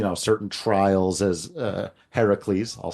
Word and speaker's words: Heracles: through uh you know certain trials as uh Heracles I'll say it properly is uh known for